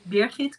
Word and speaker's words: Birgit: oh okay um well my name is beerhit that's the way to pronounce it so trace you know you know next time you will pronounce it right okay there's a lot